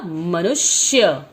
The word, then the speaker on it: मनुष्य: मनुष्य। मनुष्य का अर्थ होता है मानव, इंसान। ठीक है, तो इसमें हमने आधा श लगाया है क्योंकि ध्वनि में उच्चारण ऐसा ही आता है श, मनुष्य, तो इसलिए हमने आधा श लगाया है।